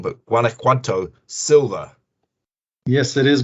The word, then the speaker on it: Guanajuato: of VSA Capital, which is, and I always pronounce it wrong, but Guanajuato Silver. Yes, it is Guanajuato Silver, the TSX listed silver developer in Mexico.